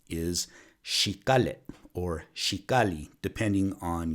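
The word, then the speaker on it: jícara: the original way the correct way of saying he Cara is she got it or she golly depending on your accent which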